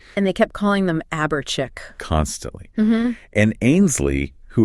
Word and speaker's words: Chique: They basically forced the correct sound through a spelling change. Yes, they just swapped C-H-I-C for C-H-I-Q-U-E to make sure that when people saw it, they'd instinctively say chic.